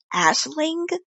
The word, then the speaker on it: Aisling: Ash ashling. Ashling. Yeah, like a twist on Ashley.